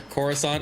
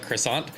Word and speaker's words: Coruscant: I mean, we got Burgie, Camwow, Kevin, Mar Jade, and Soom all playing for Coruscant, or as uh Mar Jade told us not to call it, Croissant.